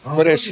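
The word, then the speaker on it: көрәш: Да, куряж. Куряж, правильно так? Да, куряж.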